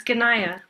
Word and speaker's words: Ayanna: Um, can I ask about the pronunciation of your name? Yeah, it's Ganaya. Ganaya.